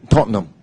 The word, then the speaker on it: Tottenham: okay what about us is not the H is don't say this again Tottenham oh I I I